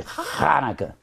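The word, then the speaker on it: Chanukah: all of this heathenism sometimes it's spelled c h a n n u k a h Hanukah Hanah probably Hanah that's put that that growling sound all right now let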